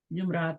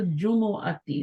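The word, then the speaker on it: الجمعة: pronoun सही करना चाहिए हम लोग इसको गलत प्र सरत सूरत का नाम भी हम गलत प्रोनाउंस करते हैं सूरतुल जुम आती होता है हम सूर जुमा सर जुमा कह देते हैं सूरतुल जुमा कह देते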